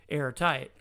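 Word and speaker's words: Heirtyte: the local outbreak archive air is spelled h-e-i-r and tight is t-y-t-e airtight and they you know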